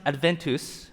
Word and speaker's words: adventus: from the latin word right here it's it's pronounced adventus okay that means a rival or the arriving